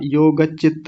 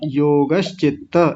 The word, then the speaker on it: योगश्चित्त: हाँ जी, और योगश्चित्त में आपने श छोड़ दिया था, योगचित्त ऐसा कुछ बोला था, योगश्चित्त ऐसा बोलिए।